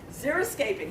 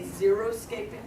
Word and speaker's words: xeriscaping: Xeriscaping. How many of you have heard of xeriscaping? How many of you know that when the reporters on TV say xeroscaping, they're mispronouncing it?